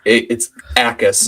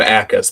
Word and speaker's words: Jacas: Yeah, so it's Jacas, actually. Gabe Jacas. The J is silent, but My bad.